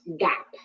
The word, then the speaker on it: GAAP: should be familiar with the first one is pronounced GAAP so this is a set of prints of